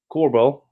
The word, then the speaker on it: Korbel: about fixing finance here uh joined with mike corbell uh assume that i assume i pronouncing that correctly you got it right man